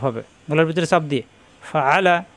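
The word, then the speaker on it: فَعَلَ: মাঝখানে চপ দিয়ে ফাআ লাম জামলা ফাআলা হরকতের উচ্চারণ তার কোন দাড়ি করা যাবে না কিন্তু এখানে চাপ হবে গলার ভিতরে চাপ দিয়ে ফাআলা ফাআলা রজবর রবে না র মিলবে বা এর সাথে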